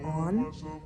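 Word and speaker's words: Anh: I think more specifically Anne, if that's how you say her name, or On. Hold on, let me look it up real quick. I don't want to be saying her name wrong the whole time. On. British. On.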